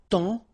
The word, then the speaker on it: temps: And then temps. Okay, so in that case, it's only the nasal here that you will hear. Temps. Okay, because the P is not pronounced and the S is not pronounced.